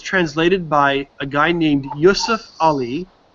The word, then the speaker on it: Yusuf Ali: the one that's translated by a guy named Yusuf Ali. It's spelled Y-U-S-U-F space A-L-I.